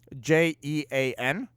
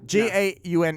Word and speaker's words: Jaune: His name is spelled the way you spell the word yellow in French, which is, I thought, really funny. Jaun? Yeah, Jaune. Yeah. Jaune is how you say it in French.